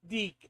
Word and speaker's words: DIC: Uh, and Metal says it's pronounced Deak, Rick, that literally said said at the end of every show.